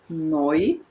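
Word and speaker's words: neu: two uh hints here this is pronounced noi like let's say the oi in oink oink oink yeah this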